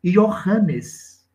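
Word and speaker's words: Ἰωάννης: mas era o seu nome pronunciado a moda grega yohanes pápias que foi discípulo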